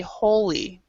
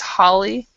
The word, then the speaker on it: Holly: um that's one thing my name actually is Holly but a lot of people want to call me holy um and so I always try if I can pronounce people's names I try I really try to because I don't like to be called holy and so even though it looks like it it's Holly and um so I try